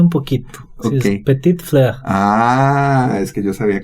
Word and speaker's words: Petite Fleur: Sí, es Petite Fleur.